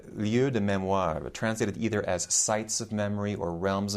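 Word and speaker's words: lieux de mémoire: pierre nora or noche they give it its french pronunciation called the liu de memoir translated either as sights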